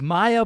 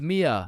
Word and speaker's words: Mia: Wait, what the Is is Maya present? Uh, it's it's Mia.